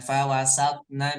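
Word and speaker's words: فَوَسَطْنَ: juga di ayat kelim ingat ya bahwa th ini bagian dari Qalqalah maka harus membal mantul fawasat fawasat bukan fawasat bacanya bukan fawasatna bihi l fawasatna fawasatna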